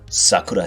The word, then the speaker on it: sakura: Yes, the cherry blossom, also known as sakura in Japan. If you're an American Yankee, like me, you might pronounce it Sakura, like the girl from Naruto.